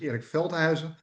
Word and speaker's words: Erik Veldhuizen: But my last name was was very good pronounced. Uh my name is Eric Felheiser.